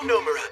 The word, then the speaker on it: Nomura: I'm Nomura, accent on the no.